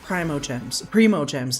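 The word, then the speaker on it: Primogems: I just don't have any like other ways to get primo gems, never mind. I learned at some point that the correct pronunciation is primo gems, apparently, because that makes sense.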